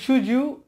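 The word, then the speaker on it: should you: নিয়ে এসেছি, তাহলে আবারও ডি এর সাথে ওয়াই পেয়ে গেলাম, এই উচ্চারণটা হবে জয়ের মতো জ সুজ, তো সুজ ইউ সুজ ইউ have done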